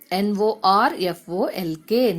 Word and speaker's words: Norfolk: There lived a peddler in a place, PLACE, place, in a place called, CALLED, called Norfolk, NORFOLK, Norfolk. Here, L is silent, okay?